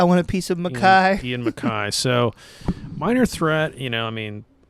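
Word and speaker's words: Ian MacKaye: I was looking it up because I know he doesn't like it when people do it, but it is Mackay. So it's Ian Mackay.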